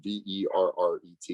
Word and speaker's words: Verret: It's V-E-R-R-E-T. It's spelled like Verret, pronounced like Corvette, I guess.